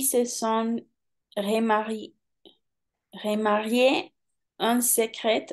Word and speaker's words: secret: En effet, ils se sont remariés en secret, pas en secrète, en secret, tout simplement. Le T à la fin, on ne prononce pas.